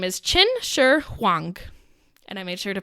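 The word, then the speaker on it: Qin Shi Huang: impact in our story today his name is chin Sher hang and I made sure to pronounce that correctly so I didn't have to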